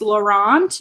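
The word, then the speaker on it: Laurent: about is when they get to the house laurant right that's how we say his name yeah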